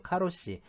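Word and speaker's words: 過労死: 나오다 보니까이 과로사 자죠 과로사의 그 번식 발음이이 카로 씨예요 카로시 그래서이 카로가 국제적인 용어가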